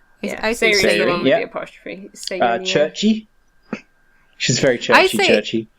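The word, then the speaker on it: Cherche: and s the apostrophe churchy she's very churchy churchy I say sh cuz it's like French and I'm used to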